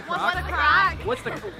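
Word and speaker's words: craic: What's the crack?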